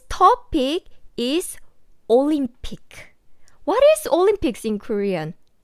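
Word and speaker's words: 올림픽: is olympic what is olympics in korean it's olympic olympic but we don't pronounce the s sound at the end like olympics no olympic olympics so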